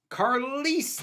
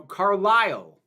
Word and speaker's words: Carlisle: Carlise the Cinephile. Oh, no, Carlisle. Because it rhymes. Carlisle the Cinephile.